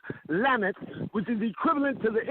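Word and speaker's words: למד: First off, what they did was to take the letter Lam in Hebrew, which is pronounced Lamet, which is equivalent to the English letter L.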